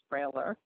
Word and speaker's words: brailler: Okay This is a braille writer, also called the brailler, braille with an r on the end of it. Pronounced brailler.